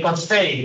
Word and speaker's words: buffet: Number three, you and your friend are at a buffet in Taiwan. Notice that the tea is silent, typifying buffet.